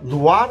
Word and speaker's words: LUVOIR: doğrudan yaşam bizi arayacak duvar Fransızca telaffuz ediliyor açılımı Mor ve Ötesi